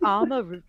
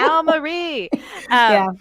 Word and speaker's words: Alma Ree: it came on, and I was like, Alma Ree, and you're like Alma Ree. Hard A's, hard A's. Put the Al in the Alma.